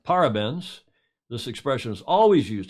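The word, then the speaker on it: parabéns: their job or achieved any gold really it's pronounced para para benz although it differs ever so slightly depending on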